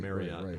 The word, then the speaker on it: Marriott: Marriott, how you pronounce it, as their lead singer and guitar player.